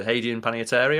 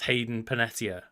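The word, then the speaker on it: Hayden Panettiere: prior to that right yes and it's also hadan panary right I hope I'm pronouncing that name correctly that is not how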